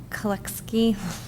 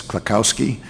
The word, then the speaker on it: Klakowski: The warrant article to make the Kolekski Land of Town Forest update, I can't say it right. That's okay. That's Klakowski, and the warrant article's been submitted and accepted by the town.